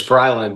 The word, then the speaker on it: Brilyn: I get it right you're all good as bryland but thanks for having me Dr Drew I